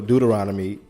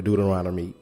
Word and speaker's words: Deuteronomy: All right, so you're going to have to go to Deuteronomy 28. You're going to have to go to Deuteronomy 28. It's spelled D-E-U-T-E-R-O-R, let me start again.